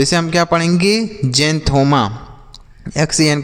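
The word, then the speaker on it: xanthoma: जेंथोमा।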